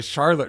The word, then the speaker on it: Shallotte: What I learned then was it was originally called the Charlotte River, but it was mispronounced so often they just called it Charlotte. So it does sound like a mispronunciation of Charlotte because it was a mispronunciation. I thought perhaps it was a Native American word or something like that, but it's just a mispronunciation of Charlotte.